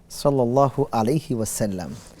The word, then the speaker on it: সাল্লাল্লাহু আলাইহি ওয়াসাল্লাম: উচ্চারণটা বলে দিতেন সাল্লাল্লাহু আলাইহি ওয়াসাল্লাম এখানে আকার হবে যদি আমরা বাংলায় উচ্চারণ করি সেক্ষেত্রে লামের পরে ল এর পরে আকার হবে হ্যা অবশ্যই অন্য